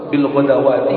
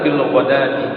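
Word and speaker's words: بالغداة: Kemudian dalam kalimat bil ghadati ayat terus ya awas bil ghadawati gitu. Bil ghadawati. Nah, bacanya yang benar bil ghadati.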